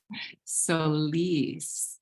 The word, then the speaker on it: Solis: Did I pronounce that properly, your last name? Solis. Solis, yes, with Empowered Vegan Coaching.